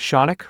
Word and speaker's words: Shaunik: Hey folks, my name is Shaunik, rhymes with Sonic, and I've been a lawyer for about 10 years.